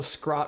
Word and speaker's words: Scrot: of Lord scrap triumph also scrot rhymes with rot or Scott that's good to know